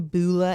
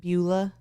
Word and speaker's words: Beulah: white yeah um uh how do you say her name Bula Anderson Beulah Beulah yeah cause I remember thinking Bueller yeah Bueller Beulah Anderson is known as the